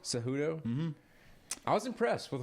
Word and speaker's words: Cejudo: Henry Cejudo? Cejudo?